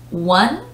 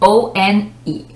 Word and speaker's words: one: like a side note the next one is one and on one like number one or one something so o n e so the pronunciation is one i normally see